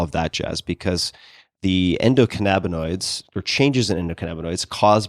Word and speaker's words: endocannabinoids: about, maybe you can tell me how to pronounce this, endocannabinoids.